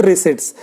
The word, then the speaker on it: receipt: Correct pronunciation is रिसीट. कुछ लोग इसको रिसिप्ट बोल देते हैं, देन इट इज रिसीट.